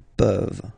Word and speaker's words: peuvent: pouvez, ils peuvent, elles peuvent. Okay, as usual, this ending, this ENT ending, you write it, you don't pronounce it. Okay, peuvent, peuvent, peuvent.